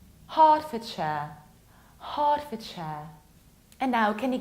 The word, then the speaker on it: Hertfordshire: it like Ford, but when it's a part of something bigger, you need to reduce it. That's why this county is pronounced like Hertfordshire, Hertfordshire.